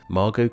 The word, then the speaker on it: Margot: contained the silent s Margot contained the silent T and Sarah contained aside